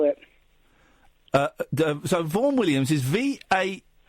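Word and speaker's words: Vaughan Williams: what what did you say how do you spell it uh so VOR Williams is VA a u g h a n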